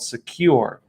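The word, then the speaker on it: Sekur: and cyber security application tool called secure that's spelled s-e-k-u-r and secure is offering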